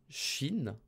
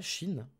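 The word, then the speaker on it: 心: Le cœur, ça se prononce Shin. Ouais, c'est ça, Shin.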